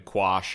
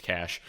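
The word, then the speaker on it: QASH: I was pronouncing their token Quash until somebody's like, "Yo, that's Cash."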